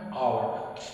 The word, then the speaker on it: hour: Okay, in this word, H is silent, so we do not pronounce it. We pronounce O. I can finish my work in an hour.